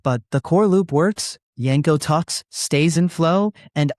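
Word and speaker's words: Janko: It's Yanko, like with a J pronounced in a German way.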